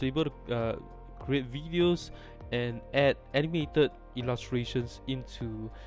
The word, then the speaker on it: Wideo: kind of uh promotional videos right um this tool would be great for that right and this this uh tool itself is called video right it's video but spelled with a w okay and before we